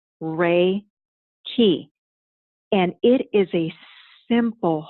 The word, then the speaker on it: Reiki: traceable to early Buddhism Reiki it's pronounced ray ki and it is a